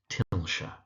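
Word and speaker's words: Tilscher: So, it's pronounced Tilshshire.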